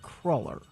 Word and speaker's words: cruller: It is from the Dutch word krull, meaning twisted cake, and they pronounce it cruller. Cruller.